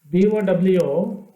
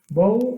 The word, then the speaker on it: bow: Another word BOW rhymes with the word so, S-O, so, bow.